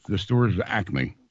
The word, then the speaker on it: Acme: things like Acme but it's the stores are Acme not Acme that's called a regionalism yeah but as a regionalism pronunciation usually originalism is a choice of a